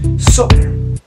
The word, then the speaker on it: soccer: fútbol, sino es como se dice un poquito raro. Soccer. Soccer means fútbol. Soccer. Hay que tener mucho cuidado con la pronunciación, ya que debemos decir soccer o una O completa. Soccer.